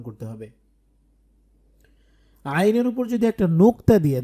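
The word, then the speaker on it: ع: এই আইন যে হরফ এটাও কিন্তু কন্ঠের মাঝখান থেকে উচ্চারণ করতে হবে আইন আইন জবর জের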